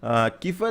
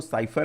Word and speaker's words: cipher: ठीक है, बेसिकली इसका जो प्रोनाउंसिएशन है वो साइफर है। ठीक है, CIPHER, लेकिन कहीं कहीं पर मैंने देखा किफर भी लिखा हुआ है। ठीक है, मतलब ऐसे किफर प्रोनाउंशिएट करते हैं, लेकिन एक्चुअल में जो गूगल ट्रांसलेट पे मैंने देखा इसका प्रोनाउंसिएशन जो है वो है साइफर।